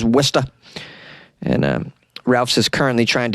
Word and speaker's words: Worcester: You might have heard of Worcester because it's spelled in a way that doesn't look like it's pronounced as Worcester.